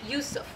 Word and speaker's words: Yusuf: in the Islamic tradition his name is pronounced with a Y with a ya so I'll use that because that's what I'm used to Yusuf and so she had